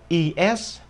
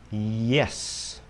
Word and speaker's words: yes: lại gì à Ừ mình không đọc là is mà đọc là yes yes yes nhân dân